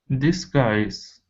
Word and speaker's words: disguise: So put the stress on the end of the word. It's disguise.